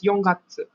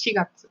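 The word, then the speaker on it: 四月: And then also for April they don't use Yongatsu. They use Shigatsu.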